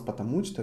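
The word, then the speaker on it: потому что: way i'm pronouncing it i'm pronouncing almost together because it is a sense of because of so in one word like one word meaning but written in two different words so if you pronounce patamuchta you want to say because of you pronounce it together you're idiot i'm telling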